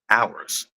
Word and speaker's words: hours: Horizon hours or hours why is the H silent in hours there's no grammar English eological reason why our should have a silent h it doesn't have it in house so once again we